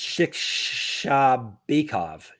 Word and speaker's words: Shikhshabekov: I want to say Shikhshabekov. That's not how I pronounce that guy. It's Shikhshabekov.